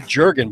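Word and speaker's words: Jürgen: People call you Jurgen, but it's not. It's Jurgen, isn't it?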